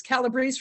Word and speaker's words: Calabrese: It's Calabrese for Common Pleas. It rhymes, so I hope you remember that.